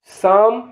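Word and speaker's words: psalm: ए एल एम में पी और एल दोनों साइलेंट है हाई का उच्चारण एच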